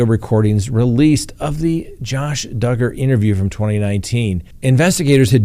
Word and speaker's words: Duggar: be happy you did josh duggar that's right the man's name that rhymes with hugger the one that is